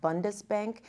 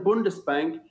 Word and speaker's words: Bundesbank: I'm glad you mentioned Germany because there's actually a German bank, I believe it's pronounced Bundesbank.